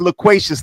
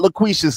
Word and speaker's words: loquacious: Actually, the word is loquacious. Not loquacious.